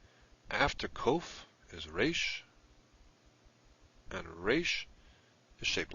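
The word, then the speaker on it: ריש: After kof is resh, and resh is shaped like this. Remember to round this corner. That'll distinguish it from the dalet. Resh is the R sound, as in rope. Resh. Now after resh we have sin, which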